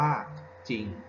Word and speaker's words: จริง: ว่า จริง อ่าน ว่า จริง นะ ครับ ผม เขียน ให้ เขา ว่า ว่า มี ตัว รอ เรือ แต่ เวลา เรา อ่าน เสียง เนี่ย มัน จะ ไม่ มี ตัว เรา เดือน ครับ